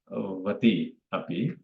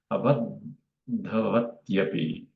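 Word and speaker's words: abaddhavatyapi: So we don't say vati api, it's actually tya. So it becomes abadhavatyapi.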